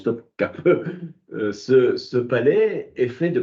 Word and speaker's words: Topkapı: Si un jour vous allez à Istanbul, si un jour vous allez à Istanbul, vous visiterez le palais de Topkapı, écrit Topkapi, ça se prononce Topkapı.